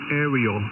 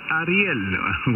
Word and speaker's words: Ariel: name for Mel I don't want to pronounces mispronounce it what's your name and the name is Ariel Alfa Romeo India echo Lima you prefer you could call me Ariella which whichever is easier for you about to